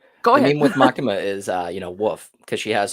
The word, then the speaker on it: Makima: Makima?